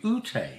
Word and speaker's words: Ute: Ute is how you say her name.